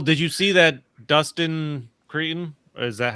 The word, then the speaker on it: Cretton: Did you Well, did you see that Dustin Cretton? Is that how you say his name? The guy that directed Spider-Man. Yeah. Cretton.